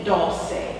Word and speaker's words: dulse: It's the D-U-L-S-E, dulce. Some people pronounce it dulce.